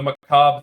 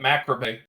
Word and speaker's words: macabre: 12 to probably 16, I called it Macrobay because I'd never heard the word before, and so I just kind of went with it phonetically. And my parents were just like, you're saying that wrong.